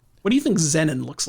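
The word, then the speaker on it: Xenin: This is Xenon. I'll spell that for you. X E N I N like the Zen like our good friend Zenni Garden, but with an N but with an N at the end.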